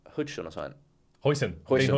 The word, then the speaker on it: Huijsen: The Bournemouth centre-back, how do you pronounce his name? Hudson or something? Dean Huijsen, yeah.